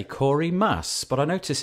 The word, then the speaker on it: Maass: have Corey now I want to say Corey mass but I notice it's M double a SS how do you pronounce your surname Corey I generally pronounce it mass like the green stuff on Iraq okay your